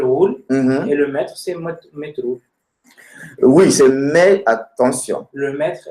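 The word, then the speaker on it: metrou: En roumain, on dit métro ou. Donc, avec U à la fin. Métro. Non, métro ou, sans article. Je parle sans article d'abord. On dit métro ou. Métro. Voilà. Donc, ça s'écrit M-E-T-R-O-U.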